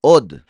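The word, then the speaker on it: עד: por cierto, por tanto, od, otra vez, o aún. Pero también recuerden que esta misma palabra se puede pronunciar eid, que significa testigo.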